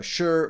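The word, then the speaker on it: Shure: combo amp with some sir or sh I say sir automatically because I always think about the guitar but uh sure mics and a mile of cables.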